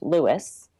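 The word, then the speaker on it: Lewes: which is spelled l e Wes but is pronounced Lewis not L Lewis is the most historic one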